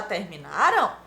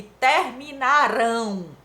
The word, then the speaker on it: terminaram: terminaram com a m Olha a pronúncia 6º ano terminaram e terminaram terminaram está no pretérito perfeito ou seja no passado e a sílaba tônica é a penúltima Terminaram a sílaba tônica